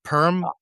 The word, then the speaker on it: Perm: in the city of Perm. So, well, right? it's pronounced more like Perm in Russian, but I don't wanna say it that way to sound like a freak.